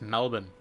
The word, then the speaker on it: Melbourne: It's Melbourne.